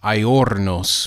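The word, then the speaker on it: ἄορνος: It's a word pronounced aiornos, which means birdless or to be without birds.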